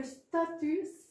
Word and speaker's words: statue: Donc, on voit que statue, on fait bien on prononce bien toutes les lettres. Et il y a une lettre qu'on n'entend pas.